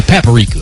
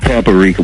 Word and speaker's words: paprika: We've been saying it wrong the whole time. We always say paprika. Yeah, yeah, that's how we say it. You, Rock. Paprika. We pamping it, but no, it's paprika.